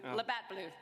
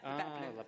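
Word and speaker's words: Labatt Blue: Labat Blue. Labat Blue. It's a little French.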